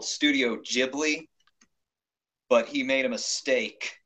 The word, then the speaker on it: Ghibli: never say it right I believe he believes ghibli when it's actually Ghibli Ghibli because me now Miyazaki